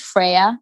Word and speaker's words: FRYA: sticks but it's pronounced freya it's like saying prayer but with a with an f um and the name